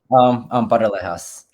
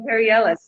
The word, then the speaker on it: Paralejas: Of course, Paralejas, or how do you say your last name again? Paralejas. Oh, you gotta do it with that little tongue, right? Okay, I didn't know that. And they always call you Parielas, like kind of like that.